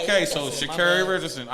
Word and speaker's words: Sha'Carri: We say her name is Sha'carri. No, it's Sha'carri. Mm-hmm. This is what she told them. That's what she told him. Yeah, she said, my name is Sha'carri. Sha'carri.